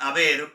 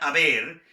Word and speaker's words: haber: En lo que se refiere a nuestro verbo auxiliar haber, se conjuga as, a, hemos, habéis, han. Con H, pero la H no se pronuncia. As, a, hemos, habéis, hay. Ese es el verbo haber en presente.